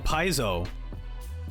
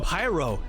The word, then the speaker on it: Pairo: Paizo. It's not Paizo. I knew this. I knew I was going to say his name wrong. Oh, Pairo.